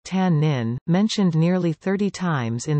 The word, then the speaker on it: תנין: Some creationist organizations propose that the Hebrew word tannin, tannin pronounced tannin, mentioned nearly 30 times in the Old Testament, should be considered a synonym.